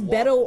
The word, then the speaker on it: Beto: get into it please welcome my friend that's Beto award from Texas he'll be sharing center stage there you have it Beto by the way that's his longtime nickname his